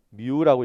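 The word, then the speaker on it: μ: 자 얘 뭐라고 읽는다고요 얘는 뮤라고 읽으시면 됩니다 뮤 아시겠죠 자 그다음에 자속이란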